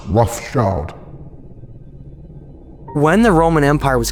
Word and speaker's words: Rothschild: Yeah, their name originates from Red Shield, Rothschild, but it's still pronounced Rothschild.